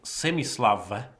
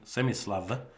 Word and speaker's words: Semi-Slav: we are playing the good old semi-slava that is the correct pronunciation semi-slava um where I normally Play